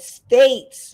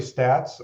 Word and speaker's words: Staat: pronounce it uh usually stats or the more proper Dutch pronunciation of stats but that's that's how